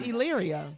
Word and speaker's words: Elyria: Elyria. You keep saying it wrong. Would you work with enchanted? It's Elyria. Elyria.